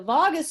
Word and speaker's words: vagus: top of the head the vagus nerve or i say vagus nerve is actually vagus nerve say it like las vegas the vagus nerve runs down from